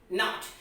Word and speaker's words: knot: KNOT, not. So now till now we have understood about the silent letters about B, P, M, L and K and T.